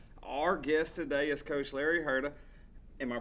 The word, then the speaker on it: Larry Hurta: in Longview Texas Our Guest today is coach Larry Herta am I pronouncing that name correctly it's perfect perfect all